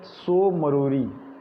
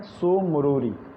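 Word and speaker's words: Tso Moriri: लद्दाख में है, और दूसरा है सो मरोरी, टी साइलेंट है यहाँ। ठीक है, सो मरोरी, ये दोनों लेक है लद्दाख में।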